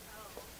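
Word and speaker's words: Teaux: Toe. Mrs. Oh. Toe? I'm being so serious, but it was spelled like T-E-A something.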